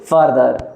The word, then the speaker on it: farther: तरह से हम बोलेंगे फार्दर। Okay, फार्दर। अभी सबको आई होप कंफ्यूजन क्लियर हुआ होगा कि इसका प्रोनाउंसिएशन कैसे होगा। एक होगा FAR वाला फार्दर और FUR वाला होगा फर्दर।